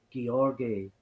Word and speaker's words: Georgi: Apparently, it's a hard G, not a soft G, so it's Georgi is closer to the correct pronunciation, so that's what I will go with.